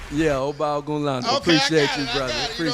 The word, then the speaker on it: Ogunlano: Yeah, OGUNLANO.